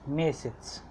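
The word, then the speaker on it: месяц: Mesets. It's pronounced as mesets.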